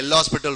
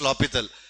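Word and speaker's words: L'Hôpital: Some people will say L'Hospital rule. It is actually the actual pronunciation is L'Hopital.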